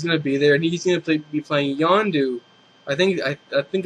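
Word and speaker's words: Yondu: there and he's going to play be playing yandu I think I I think that's a proper pronunciation yandu in the Guardians of the Galaxy which I'm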